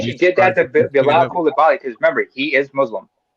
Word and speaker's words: Coulibaly: Victor Wembanyama and Bilal Coulibaly. By the way, it's pronounced Coulibaly. He's Wembanyama. Both are French, but Coulibaly is of West African descent.